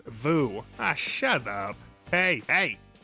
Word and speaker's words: Woo: big stupid argument about whether director John Woo's name is pronounced John Woo or John Vu. It is Vu.